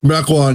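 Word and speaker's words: Mequon: Uh so, you were from is it Mecoin? Is that how it's pronounced? Mecoin.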